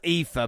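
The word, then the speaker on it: Aoife: so how is it it's pronounced ether but i know that cannot be a namely uh a o i f e i'm sorry but it's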